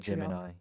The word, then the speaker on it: Gemini: Then like Gemini, how do you pronounce it? Gemini.